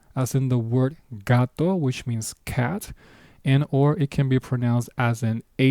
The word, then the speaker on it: gato: First pronunciation, gato, hard G, gato, which means cat.